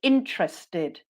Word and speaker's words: interested: number two I'm really interested have a look at that word intered but I say interested interested brilliant and we'd go through